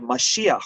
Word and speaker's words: Mashiach: The word Messiah is an English pronunciation of the word Mashiach, which means the anointed one, because we use this anointment oil to inaugurate kings and Kohen Gadol.